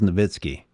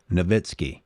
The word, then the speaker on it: Nowitzki: Dirk Nowitzki, and it is Nowitzki. Guys, learn how to pronounce his name. Nowitzki.